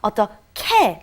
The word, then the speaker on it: 어떻게: And then the other difficult pronunciation was 어떻게, how, or what shall I do? And it's written 어떻게, but because we have the H and the G meeting together, we have 어떻게, like a K pronunciation.